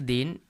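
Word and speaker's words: the: और यहाँ पे द, हमने बताया जब इसका यूज़ करते हैं जिसके पहले अगर उसमें पहला अक्षर वावेल हो यानी स्वर से हो तो इसे हम दी पढ़ेंगे।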